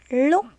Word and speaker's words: lúc: sau chẳng mấy lúc khi đọc tiếng lúc các em phát âm là l Chẳng mấy lúc mời các em đọc